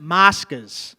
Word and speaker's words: Moscas: Moscas. Moscas. Moscas. Check it out, bro. Can you spell it to me?